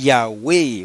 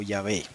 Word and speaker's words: Yahweh: Original, Yod, He, Waw, He, que es una palabra de 2 sílabas que normalmente se lee Yahweh o Yahvé.